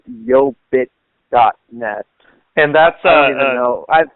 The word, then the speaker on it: YoBit: about yo bit is spelled yo as in yo yo and then bit as in Bitcoin so it's yo bit net hey by the way